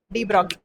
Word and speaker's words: de Broglie: You are writing de Broglie, but you have to pronounce it like de Broglie.